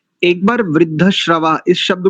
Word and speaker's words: वृद्धश्रवाः: बढ़िया, अच्छा उच्चारण है। एक बार वृद्धश्रवा इस शब्द को पुनः उच्चारित कीजिए।